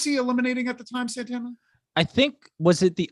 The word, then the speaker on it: Santana: boys yeah which is nice we get that santina i said santa oh my god am i ever gonna say it right santana uh he does the mugging for the camera